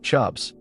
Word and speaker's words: CHBS: People were starting to suffer from what psychologists reluctantly dubbed chronic hysterical burnout syndrome or CHBS, pronounced chubs, because of course it was.